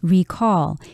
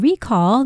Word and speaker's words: recall: we meditate yes and the word recall here is being used as a noun in which case you would put the stress on the first syllable if you were to use the word as a verb then you would say recall and recall the noun